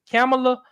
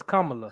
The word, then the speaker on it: Kamala: I tried to say it right. I didn't say it right that time. You know, like a comma and la.